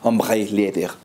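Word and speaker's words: Ombré: hombre Leather o bueno tratando de imitar un poco la pronunciación en francés hombre Leather pero este es en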